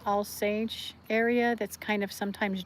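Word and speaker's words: Alsace: because she's from the I think it's pronounced All Sage area that's kind of sometimes German and sometimes France.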